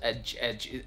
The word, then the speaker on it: edge: and G, but still, it's so deceiving because when you say it a couple of times, edge, it almost seems like the D is an essential part of the word. But if you think about it, it's just a J sound, right?